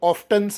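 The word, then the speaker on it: often: ಅವನು ಆಗಾಗ ಒಂಟಿತನ ಅನುಭವಿಸುತ್ತಾನೆ ಈ ಓಎಫ್ಟಿಎನ್ ಗೆ ನಾನು ಆಫನ್ ಅಂದೆ ಕೆಲವರು ಆಫ್ಟನ್ಸ್ ಅಂತಾರೆ ಎರಡು ಉಚ್ಚಾರಗಳು ಓಕೆ ಯಾಕಂದ್ರೆ ಈ ಅಮೆರಿಕನ್ ಇಂಗ್ಲಿಷ್ ಮತ್ತೆ ಬ್ರಿಟನ್ ಇಂಗ್ಲಿಷ್ನಲ್ಲಿ ಎರಡು ಉಚ್ಚಾರಗಳಿವೆ ದೇರ್ ಆರ್ ಫೂ ಬಸ್ಸಸ್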